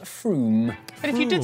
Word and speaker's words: Frome: dialect for this wrong it's not from f-r-o-m-e it should be blitheringly obvious it's pronounced froome but if you did